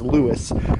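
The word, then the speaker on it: Lewes: in the area but it's actually pronounced Lewis ferry boat goes over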